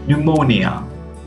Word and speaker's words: pneumonia: to pronounce these words here you don't have to pronounce the letter P and the first one is pneumonia no P see you